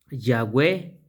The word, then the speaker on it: Yahweh: Yahweh. Entonces es ye o gua o es Yahweh. Solamente se pronuncia, se pronuncian dos partes.